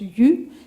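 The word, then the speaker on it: 鱼: Par exemple, le poisson se prononce exactement comme, ça se prononce yu, exactement comme le reste.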